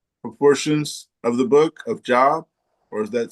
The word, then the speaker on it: Job: In high school students will read the parable of the pro prodigal son proportions of the book of Job or is that spelled pronounced job?